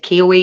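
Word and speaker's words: Kuwohi: It was called look, I think the way you say it is Kiwi, even though it's not spelled like Kiwi.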